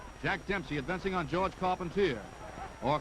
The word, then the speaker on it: Carpentier: Jack Dempsey advancing on Georges Carpentier, or Carpentier if you prefer the French pronunciation.